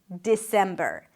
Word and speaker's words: December: And then finally we have the month of December. December. You start with a D sound, then it's the I as in sit. Di. Then sem, primary stress. December.